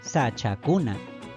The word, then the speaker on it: sachakuna: kuna en ese caso se pronuncia sachakuna como vemos la mayor fuerza de voz continúa recayendo en su última sílaba si le agregamos un